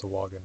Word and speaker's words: Sahuagin: Yeah, it took me a long time to realize that it was pronounced Sahuagin. I was always saying Sahuagin because I just read it, and that's how I thought it would be pronounced.